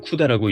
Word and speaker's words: CUDA: 우리말로는 쿠다라고 읽습니다.